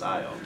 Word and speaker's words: Io: And if you look up the pronunciation, it's Io.